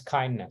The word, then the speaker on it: KINDNS: So it is pronounced as KINDNS. So from here on, I will always say KINDNS, and that stands for this, this acronym.